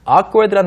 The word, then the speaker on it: awkward: 왜냐하면 awkward의 그 어가 우리말에 없는 발음이거든요. 아도 아니고 어도 아니고 Ah, that's right. 오도 아니에요. 네, 입을 벌리다만 느낌.